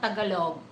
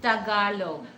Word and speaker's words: Tagalog: It's Tagalog. It's Tagalog. But sometimes I understand that, some Western people, they have a hard time to speak. They speak it Tagalog. No, it's not Tagalog. Okay, it's Tagalog.